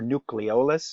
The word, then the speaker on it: nucleolus: pay attention to one is the nucleolus or nucleolus if you prefer that pronunciation nucleolus right that is